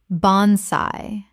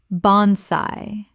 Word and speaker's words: bonsai: Common mispronunciation, bonsai. Correct pronunciation, bonsai. Two syllables with the AI making an AY sound. From Japanese. Example, he has cared for